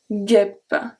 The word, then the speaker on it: guêpe: Une guêpe. Guêpe. And this one is pronounced a bit shorter than the other one.